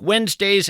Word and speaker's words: Wednesday: If you're in fact scribbling this down, Wednesday is kind of tough to spell. It's not like it sounds. You want to spell it W-E-N-Z, but that, of course, would be a mistake.